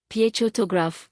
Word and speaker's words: photograph: For example, photograph, stress on the first syllable, photography, it's stress on the second, photographic, stress on the third.